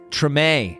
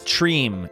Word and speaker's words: Treme: Treme. Treme. It's not Treem.